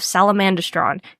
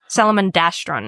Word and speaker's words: Salamandastron: the badger lords of Salamandistron can decipher them. Salamandistron. Yes. Salamandastron is how they say it in the audio book.